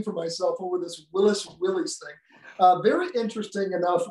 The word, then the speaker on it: Willys: and I found that John North Willis did pronounce his name Willis. But then I guess there was a statement at one point made where people started calling the Jeeps Willies.